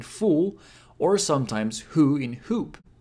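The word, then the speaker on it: ほ: He, ho. It's pronounced like ho in ho or ho ho ho ho.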